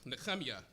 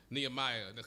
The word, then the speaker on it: Nehemiah: As we are going into the beginning of the book of Nehemiah, Nehemiah, as it is pronounced in Hebrew.